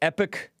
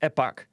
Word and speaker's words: epoch: is from the the epoch times i was pronouncing it epic epoch epic but i've heard it pronounced epac but it's not supposed to be pronounced epoch